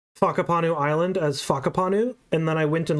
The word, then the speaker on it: Whakapanu: in the game and Jonathan in an interview pronounce Whakapanu Island as Whakapanu, and then I went and looked it up